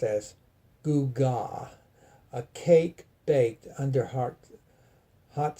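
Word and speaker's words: עֻגָה: That is Strong's number 5692, pronounced as gugah, a cake baked under hot cinders, such as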